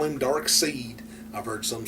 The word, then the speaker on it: Darkseid: I call him Darkseid. Because to me, Side is spelled S-I-D-E. This is S-E-I-D. Now, like I said, I call him Darkseid.